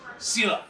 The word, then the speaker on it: Selah: Selah. 9,000 people was is was there back in '84. How do you spell that?